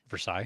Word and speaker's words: Versailles: Versailles. Um sure. Yeah, that's how you say it. Actually, that would be the correct way to say it. So, we'll we'll say Versil.